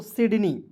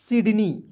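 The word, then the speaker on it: Sydney: देखिए एस वाई डी एन इ वाई तो पढ़ेंगे दोस्तों सिडनी क्या पढ़ेंगे एस वाई को पढ़ेंगे सी डी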